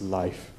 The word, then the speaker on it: Leif: I was told that the accurate pronunciation of his name is Leif.